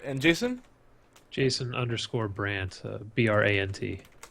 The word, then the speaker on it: Brant: Jason_Brandt, Brant. There we go. Easy enough. Phonetically friendly, so you can't get it wrong. Simple. No D. Everybody puts a D in my name for some reason.